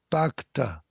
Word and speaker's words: Bhakta: Okay, I'm delighted that we have a super guest tonight, an outstanding Wall Street person named Haren Bhakta. It rhymes with doctor, Haren Bhakta.